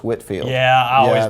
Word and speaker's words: Whitefield: I believe that even though it's spelled Whitefield, I think it's Whitfield.